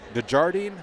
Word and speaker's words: Desjardins: Desjardins, is that how you say it? Desjardins, yep.